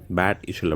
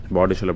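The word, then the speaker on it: Bad Ischl: பேட் இஷல் அப்படின்னு எழுதியிருக்கோம். வந்து இங்கே ப்ரொனவுன்ஸ் பண்ணுறது வந்து பாடிஷல் அப்படின்னு சொல்கிறாங்க.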